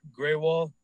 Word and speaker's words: Grewal: All right, so my name is Graywal, 6541 Ballymore Lane, Clarksville, Maryland 21029. My name is spelled.